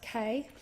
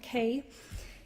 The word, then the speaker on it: Keay: To the Keay family, and it's K-E-A-Y, pronounced K, not Key, in New South Wales and beyond, thank you for telling me my dad would be proud.